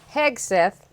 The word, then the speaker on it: Hegseth: So, Pete Hegseth, that's how you say it, I believe correctly.